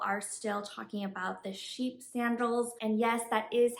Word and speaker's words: Chypre: i was like um i wasn't sure if it's like sheep ray or whatever but my sales associate did say that sheep is how that french word is pronounced and no they did